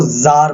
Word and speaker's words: tsar: 1914 जार, note TSAR, इसमें T silent है, okay. सो जार बोला जाएगा।